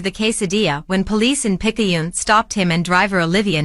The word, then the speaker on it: Picayune: I pronounced Picayune right.